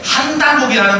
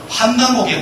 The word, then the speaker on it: 환단고기: 이게 발음 그게 일러두면 뜻을 여러분 잘 아시고 환이라는 거 환단고기도 있겠지만 진짜 원문을 살린다면 환단고기가 맞습니다.